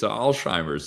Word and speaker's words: Alzheimer's: Yeah, there's definitely no T. It's a Z. It's Alzheimer's. It's a you know, it's a it's not timers.